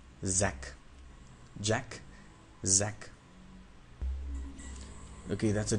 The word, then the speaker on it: Zack: then you say J when you have to pronounce sound Zed you do not block any air you just let it out like Zed J Zed